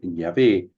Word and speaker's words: Yahvé: Esta es una errónea pronunciación del nombre Yahvé, que pudo ser introducida